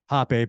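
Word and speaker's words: rapé: It's called hape, which is pronounced hape, but spelled R-A-P-E. So it's better that it's pronounced hape. However, I believe it's a Brazilian thing where they pronounce their R's and H in kind of in reverse.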